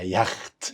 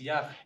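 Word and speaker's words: Yacht: جوه الكلمة هيتنطق واي عادي. قول معايا يخت. يخت.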